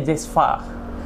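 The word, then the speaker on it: cezve: Nah, kalau nama alatnya sendiri, nah Sobat JPW bisa banyak sih pengucapannya, cuman bahasa asli Turkinya itu namanya Cezva. Tulisannya Cezva, tapi bacanya Cezva.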